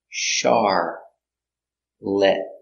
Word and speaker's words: Charlotte: is who was she the girl's name Charlotte pronounced char lit lit Charlotte is a girl's